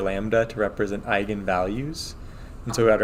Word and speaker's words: eigenvalue: okay so just a refresher that's how Matrix Vector multiplication works so um if you see this word it's pronounced eigenvalue um I don't remember